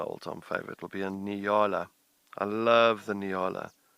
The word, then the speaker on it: Nyala: And it's like, no, just remember, it's easy to spell. If you're American, it's easy. It's New York and Los Angeles. So it's Nyala.